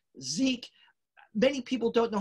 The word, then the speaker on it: Szyk: forgotten even his name s-z-y-k it is a zeit zizik zeke many people don't know how to pronounce it it's like you're introduced to someone